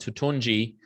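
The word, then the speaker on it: Toutounji: That is how you spell the name, and it's pronounced Tutunji. And it's a Syrian name.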